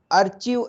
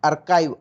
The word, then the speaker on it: archive: इसका प्रोनाउंसिएशन करने में कई लोगों को दिक्कत होती है, ARCHIVE, अर्चिव ऐसा कुछ प्रोनाउंस करते हैं, लेकिन इसका एक्चुअल प्रोनाउंसिएशन है अर्काइव।